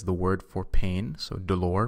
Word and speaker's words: dolor: word for pain so dolor means pain and also rhymes with the number four so of course you'll